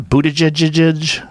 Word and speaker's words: Buttigieg: Buttigieg What's his name?